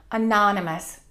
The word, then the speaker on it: anonymous: We stress the second syllable, anonymous.